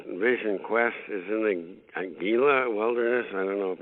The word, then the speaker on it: Gila: Well, I understand your next Vision Quest is in the Gila Wilderness. I don't know if I'm pronouncing it right, or New Mexico. No, it's pronounced Gila. The G is Gila, like an H.